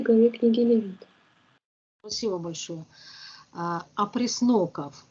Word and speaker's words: опресноки: Опресноков, ударение, правильно? Опресноки, праздник опресноков.